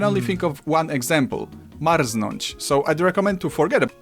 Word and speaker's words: marznąć: and I can only think of one example, marznąć, so I'd recommend to forget Marznać.